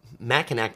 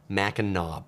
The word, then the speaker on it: Mackinac: world uh says one tip about the uh Mackinac Bridge as I pronounce this is actually pronounced the Mackinaw Bridge all right thank you for that I